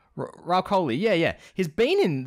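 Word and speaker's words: Rahul Kohli: uh R Co Coy do you know how to pronounce his name yeah he been in them Ral COI yeah yeah he's been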